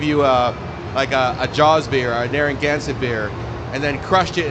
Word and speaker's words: Narragansett: Yeah, Narragansett.